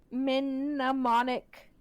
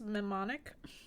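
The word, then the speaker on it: mnemonic: come from an ancient minic it's not how you pronounce it just memonic minic memonic memonic device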